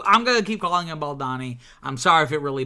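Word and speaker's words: Baldoni: commented basically saying it's baloni like pepperoni it rhymes with pepperoni you keep saying baldani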